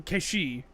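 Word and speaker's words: Cait Sith: And so they're going to be calling him Keishi, like the mythical creature.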